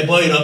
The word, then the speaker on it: Poirot: como nos enseñó Úrsula, que se dice que se escribe Poirot, pero dice Poirot, como que es una púa, señores.